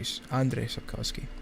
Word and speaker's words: Sapkowski: But The Witcher isn't famous for not having a map drawn by the creator, the writer, Andrei Sapkowski. Andrei Sapkowski. That's the actual pronunciation. I believe that is.